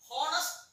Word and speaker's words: honest: horris not the pronunciation honest mistake oh that's why his pronunciation is co-owners the H is silent appear honest he is an worst he is an honest man cynicism he is